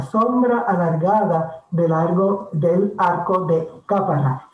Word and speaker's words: Cápara: alargada del arco de Cápara, sí, con acento en la A. Aníbal Sepúlveda Rivera le sigue el rastro a Juan Ponce de León y a la sombra alargada del arco de Cápara, que le acompaña en